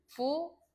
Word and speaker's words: 부엌: 그러면 부엌 할 때는 부억. 이것도 부엌 이렇게 발음하지 않잖아. 누가 부엌이라고 발음해요? 부억이라고 발음하죠.